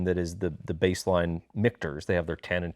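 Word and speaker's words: Michter's: so this is uh mikter's if you ever see this and you're like is it mitcher's what is it mikters um took me like six months figured out how to pronounce the distillery so this is their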